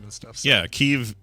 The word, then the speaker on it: Kyiv: This is one of those things that we've been so familiar with the Anglification of Kiev. Yeah, it's never been Kiev. It's always through Chicken Kiev and KIEV and all that. It's really pronounced Kyiv, and that's the Ukrainian